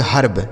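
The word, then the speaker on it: herb: जैसे एच ई आर बी, तो इसे क्या पढ़ेंगे? एच से हो गया आपका हाँ, इस ई का उच्चारण आ हो जाएगा। उसके बाद आर से र और बी से ब, इसे पढ़ेंगे हर्ब।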